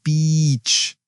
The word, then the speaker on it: beach: The long e sound in beach is very important. Practice saying I want to go to the beach. Great tip. Make that vowel sound extra long and clear.